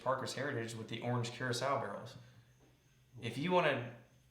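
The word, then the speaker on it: Curaçao: Curacao is an island off the coast of a country, not Caraca or whatever. There's a lot of different pronunciations. Yeah, but it's Curacao.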